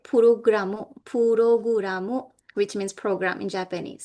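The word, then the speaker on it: プログラム: Saba means server, which is Japanese, but in Japanese it's pronounced as saba. All right, puroguramu, which means program in Japanese.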